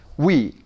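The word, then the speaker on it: oui: 우예요 여기다가 2니까 그렇죠 위에 하면 되죠 다 같이 위 이거를 하니까 어떤 학생은 우하고 2니까 그렇지 않고 요거하고 요거하고는 음절이 달라요 그러니까 따로따로 떼어서 다시 한번 위 위 됐습니다 위하는 말은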